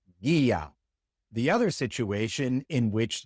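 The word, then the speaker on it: guía: When we have a hard G before an E or an I, then we put a silent U between them to conserve that hard G sound. Such as in guerra and guia.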